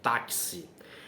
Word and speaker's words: táxi: que quando você reproduzir táxi ou então vocês observando que a letra x tem o som de KS táxi taxi Então nesse caso táxi